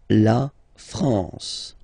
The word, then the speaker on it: France: France La France okay n here nazal La France okay we continue Le